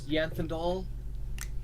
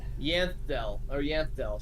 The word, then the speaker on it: Yanthdel: My name is Yanthandal, and my brother over here is Nithalin. And I'll type those in chat. Yanfandol? Nithalin. Yanthdel, sorry, I pronounced it wrong the first time.